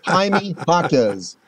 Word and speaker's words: Jaime Jaquez: Jaime Jaquez, I know we butchered that name a couple years on the air. That's right. Jaime Jaquez.